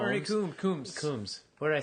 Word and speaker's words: Coombs: Dressup, Ernie Combs. Ernie Coombs. Coombs. What did I say? Combs. Oh. Some people might pronounce it Combs.